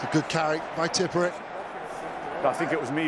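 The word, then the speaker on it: Tipuric: Tipperich. Apparently that's the correct pronunciation.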